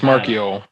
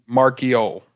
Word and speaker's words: Marchiol: He said the way to pronounce my name is Marchiol.